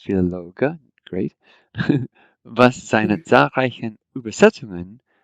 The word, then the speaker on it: Philologe: Notice every letter is pronounced Philologe.